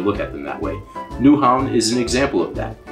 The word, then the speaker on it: Nyhavn: we actually don't because in danish y's are actually pronounced more like use which makes danish really difficult to learn um excuse me ma'am i'm looking for nyhaven a lot of